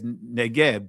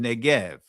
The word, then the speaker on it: Negev: In the Tanakh, it says the same thing pretty much, but it has Negeb there. Right? And some will pronounce it Negev.